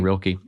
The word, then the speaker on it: Rilke: Is that how you pronounce last name, Rilke?